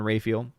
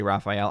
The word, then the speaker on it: Raphael: all of the archangels uh also gabriel and rayfield i know people like to say raphael i like rayfield i had a professor in